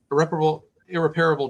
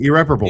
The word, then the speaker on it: irreparable: Department has caused irreparable damage, however you pronounce that word, damage that cannot be repaired to Kelsey. I know this one, irreparable. Yeah, exactly. I know there this we go. one. There we go. Irreparable. There we go.